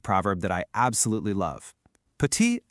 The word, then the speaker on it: petit: See that T on the end? You just ignore it. It's pronounced petit.